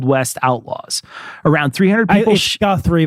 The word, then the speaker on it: Guthrie: Summit View Cemetery in Girthy, Oklahoma, a burial ground famous for housing old west outlaws. Around 300 people Guthrie, but you pronounced it girthy.